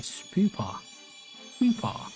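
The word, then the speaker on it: Spewpa: already well Skybox evolved into a spoopa and that's how you say it then it needs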